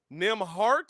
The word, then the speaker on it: Nembhard: Ain't no T in that man's name. Nembhard is how he's pronounced it.